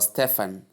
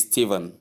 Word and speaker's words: Stephen: Some people do pronounce this word as Stephen or Stefan. Please the right pronunciation of this word is Steven. It is not for sound. Even though we spell it as s T E P H E N, the right pronunciation is Steven and not Stefan or Stefan.